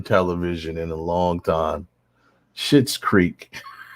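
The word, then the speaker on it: Schitt's Creek: in a long time shit's creek it's just i just thought that's so it obviously is spelled s-c-h-i-t-t but i mean it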